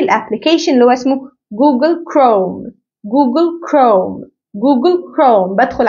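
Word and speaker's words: Chrome: تمام نركز مع بعض كمان في السي اتش بنطق وده سؤالك زي كلمه سكول كمان عارفين الابلكيشن اللي هو اسمه جوجل كروم جوجل كروم جوجل كروم بدخل على الحاجه دي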